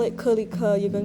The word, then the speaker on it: Kelike: that I saw about how to pronounce Kelike, and basically it's how I've been pronouncing it is Kelike. Yeah. And yeah, you can pronounce it like that. You can also pronounce it click, because that's what it is. It's a very literal romanization, or like a very literal localization of the English word click.